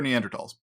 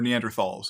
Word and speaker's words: Neanderthal: And as we'll talk about, not nearly as much for Neanderthals, or Neanderthals, as depending on how you pronounce it.